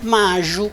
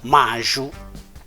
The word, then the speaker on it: Maju: leggiamo così li pronunciamo, mentre invece Maju, che vede il segno della J, eccola qui, si trasforma in Maju, quindi quella I diventa J, quindi leggeremo a posto della J Maju.